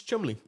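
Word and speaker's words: Cholmondeley: I like chle CH chly chle chly it's Chumley Chumley okay I got this other website by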